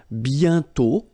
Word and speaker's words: bientôt: And then bientôt, okay? Remember, you put this accent circonflexe, but you don't write it. You write it, but you don't pronounce it. And then the final T is not pronounced.